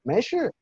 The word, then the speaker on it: 没事: Mei shi, la primera sílaba entonces está en segundo tono, mei, y la segunda en cuarto, shi, mei, shi.